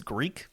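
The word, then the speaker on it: Greak: I picked up, I think it's Greek, is how you pronounce it? I don't know, it's Greek to me. So it's a G-R-E-A-K. Like geeky Greek. Geeky Greek, I guess.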